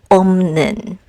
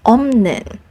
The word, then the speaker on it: 없는: In this word, the second syllable begins with a nasal sound, n. So it will be easier if the sound prior to it will also be pronounced nasally. So instead of saying op, 는, you say 없는 instead for ease of pronunciation.